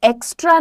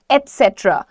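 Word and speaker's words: et cetera: में वर्ड आता है उसको एक्स्ट्रा नहीं बोलते उसको बोलते हैं एट सेट्र what is the pronunciation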